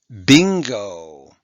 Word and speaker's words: bingo: possible also on oh bingo okay it's not bin and go because being the ing and bing is a blend that